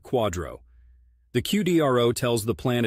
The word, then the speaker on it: QDRO: qualified Domestic Relations order or qdro pronounced like Quadro the qdro tells the